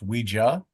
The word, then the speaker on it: Ouija: the the one that was first mass-produced is pronounced Ouija? Ouija. But you're not wrong for saying ouiji because when you ask someone if they use the board, you would ask them if they ouiji.